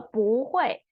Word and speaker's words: 不: modification, we talked about if the word after this 不 character is 4th tone, then you don't pronounce 不 as 4th tone, you need to pronounce as 2nd tone. So 不会也不会有经济压力。Also will not, still